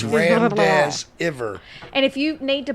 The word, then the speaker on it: remdesivir: It's Remdesivir. And if you need to put emojis in there for the pronunciation, I totally understand.